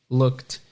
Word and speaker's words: looked: Look, no passado, se escreve look com ed no final. Só que esse ed tem som de T. Então, fica looked.